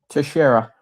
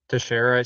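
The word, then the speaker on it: Teixeira: I I think Tashara. Tasher. See, I I would have no idea. I apparently he played baseball. Good for him. Wait, how do you know how to pronounce that without knowing? Um, because I learned how to pronounce it when Jack Kasher, the uh the Massachusetts National Art um guardsman who uh leaked the classified documents to the Discord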